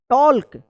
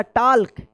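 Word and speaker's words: talk: टॉल्क या टाक। क्या पढ़ते हैं आप? टाक पढ़ते होंगे या टॉल्क पढ़ते होंगे। तो यह बिल्कुल गलत है। इसका सही उच्चारण होता है टॉक।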